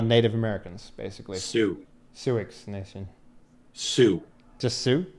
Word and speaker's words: Sioux: Sioux. Just Sioux? It's Sue, like it's pronounced the girl's Sue. name. The X is silent.